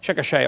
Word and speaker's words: Chickasha: 2005 textbook, and I pronounced it wrong as Chickasha, not Chickasha, Chickasha, Oklahoma.